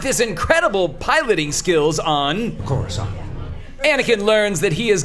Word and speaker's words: Coruscant: Ah, Coruscant.